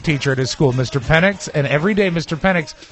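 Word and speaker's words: Pennix: Penix, and every day Mr.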